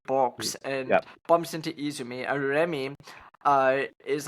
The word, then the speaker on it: Izumi: And he's like, it's pronounced Izumi.